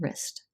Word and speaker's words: Rist: Next, we're going to move into talking about the thief, Edwin Rist. Wrist is connected to the elbow bone. Pronounced the same.